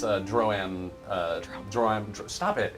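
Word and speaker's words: Droaam: It's a Droam. Stop it. It's pronounced however I want to pronounce it.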